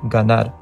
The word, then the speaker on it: ganar: You probably get the gist now, but after a pause, M or N, it's pronounced like the hard G sound, like in the word ganar.